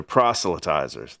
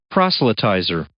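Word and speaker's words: proselytizers: They're procilitizers. That's that's how you say it. Procalitizer.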